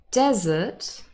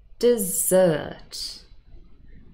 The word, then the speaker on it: dessert: means i'm stressed so the question is do we say desert or dessert what do you think